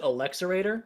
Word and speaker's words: Alexerator: I pronounce it Alex erator because it rolls off the tongue better.